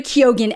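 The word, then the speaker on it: Keoghan: all hinges on very kogan and yes he pronounces the G in his name I've been sass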